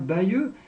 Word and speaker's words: Bayeux: Parce que les deux, la façon de prononcer, Bayeux, Bagneux, c'est quasiment la même chose.